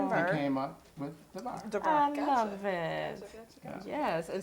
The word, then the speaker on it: Darver: so in your clothing store, because like we were saying earlier, a lot of people pronounce it Darvers, but please pronounce it correctly. Darver.